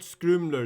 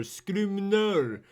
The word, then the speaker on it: Scrimner: You should use his actual name, not Scrimler. Scrimner. He gets really mad if you get his name wrong.